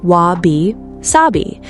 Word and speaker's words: Wabi-Sabi: Wabi-Sabi, pronounced Wabi-Sabi, written with characters whose individual meanings are difficult to pin down in English.